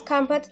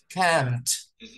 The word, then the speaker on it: camped: Mira, estoy poniéndole donde no se pronuncia.